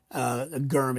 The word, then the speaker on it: gherm: Gurm. It's spelled Gherm, pronounced like Gurm, GH, but spelled Germ, Germ.